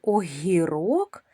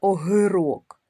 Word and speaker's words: огірок: Зверніть увагу, що в слові огірок приголосний ґ ми вимовляємо м'яко. Ми ж не кажемо з вами огирок, ми кажемо о гірок. Гі м'якенько, тому його підкреслимо двома рисочками.